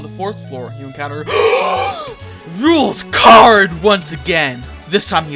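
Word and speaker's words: Rouxls Kaard: proceed the puzzle is made by none other than rules card pronounced rules card he has created a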